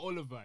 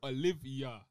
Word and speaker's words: Olivier: It's not Oliver. It's Olivia.